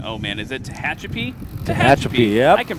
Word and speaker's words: Tehachapi: Tehachapi, yep. I can pronounce words.